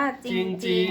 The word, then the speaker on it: จริง: ๆ จริง ๆ ว่า จริง ๆ นี่ ไม่ ต้อง ออก เสียง เรือ นะ คะ เพราะ เป็น คำ ควบ ไม่ แท้ จึง ดี จริง ๆ